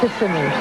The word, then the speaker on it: Kissimmee: Kissimmee, Florida? Is that the way you pronounce it? Kissimmee. What about at night? Kissimmee.